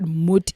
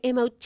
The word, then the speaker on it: MOT: A lot of people say MOT, and then they say MART, and they say, what does MOT stand for? So it's actually pronounced MUT because it's a Norwegian word.